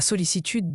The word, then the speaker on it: sollicitude: La sollicitude désigne une attention affectueuse et bienveillante portée au bien-être d'une personne. Solicitude se prononce sollicitude.